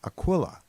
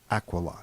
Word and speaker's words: Aquila: Now you might know this constellation as Aquila, but the correct pronunciation is actually Aquila.